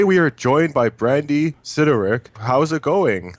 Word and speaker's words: Sidoryk: Today we are joined by Brandy Citric. How's it going? It's good, thank you. Everything's good. I pronounced your name right. Pretty close. Sedoric is how you pronounce it.